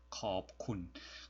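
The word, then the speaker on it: ขอบคุณ: 쓰이게 되는 거죠 어 성조가 중요한 언어 있기 때문에 컵 얘는 커버 기류 이게 발음하고 약간 이제는 떨어지는 무로 일성 무로 업 아름을 하구요 쿤은 평범하게 평성 으로 발음합니다 겁 쿤 그 좀 이젠 데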